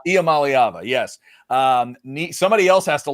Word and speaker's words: Iamaleava: coming, and that's Nico Iamaleava. It's 6 sounds. Iamaleava. Right? Iamaleava.